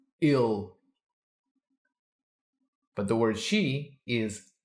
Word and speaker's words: ele: so he is ill the word he gives a lot of problems for Learners people expect that it's pronounced no it's pronounced ill but the word she